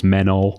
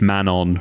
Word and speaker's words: Manon: I always thought it was Menol, and it's Manon, right?